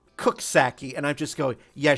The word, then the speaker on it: Coxsackie: Like, New York has a town that's named, that it looks like it's supposed to be pronounced Coxsackie, but it's pronounced Cooksackie, and I'm just going, yeah, sure.